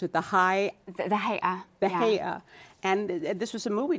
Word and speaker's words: Hay'a: I think I saw a movie some years ago that was about the religious police, how do you pronounce it? The Hay'a.